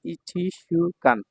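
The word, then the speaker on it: 一週間: হল কান তাই না এটা হল সু তাহলে ইশুকান উচ্চারণ হবে ইশুকান এক সপ্তাহ ইশুকান এতটুকু হচ্ছে কাঞজির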